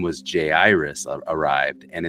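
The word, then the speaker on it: Jairus: Iris arrived and it's J Iris because we know somebody who that's his name and that's how he says to pronounce it right Jay Dunston J Iris some people say Gyrus and every time I hear that I'm like you are wrong dummy so um J Iris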